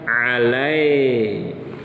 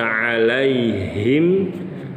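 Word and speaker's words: عليهم: atau sempurna bapak-bapak jatuhnya harus ke Ya Sukun Alaihi bukan alay nggak boleh alay ya lalu yang terakhir mengubah huruf H besar jadi H kecil yang harus dibaca alayhim bacanya jadi alayhim nggak boleh berikutnya pada kata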